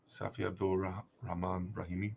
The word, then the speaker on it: Safi Abdul Rahman Rahimi: Safi Abdul Rahman Rahimi. Yeah, sounds right.